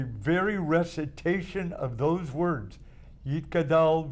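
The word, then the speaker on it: יִתְגַּדַּל: But the very recitation of those words, Yitkadal v'Yitkadash Shemei Rabbah, or an Ashkenazic pronunciation, Yiskadal v'Yiskadash Shemei Rabbah, touches the Jew in a way that the translation of the words cannot touch.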